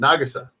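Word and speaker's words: Nagisa: and let nagasi win nagasa nagasa that's how you say his name nagasa I've been saying it wrong this whole time um and then they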